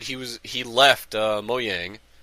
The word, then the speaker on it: Mojang: was he left uh moyang as it's pronounced so people say Mojang or whatever I I call it Mo Yang but which I don't